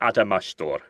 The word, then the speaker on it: Adamastor: But anyway, you are here today to talk about your, again, am I pronouncing it right? Is it Adamastor, your song I for don't- Festival da Canção?